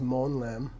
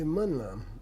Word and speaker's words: Monlam: You don't see, no Tibetan says Monlam. Right. They say Munlam.